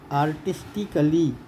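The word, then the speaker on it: artistically: तो साइलेंट में आप देखिए आर्टिस्टिकली, तो कली के ए इसमें साइलेंट हो गया, इसमें यहाँ पर ए साइलेंट हो गया।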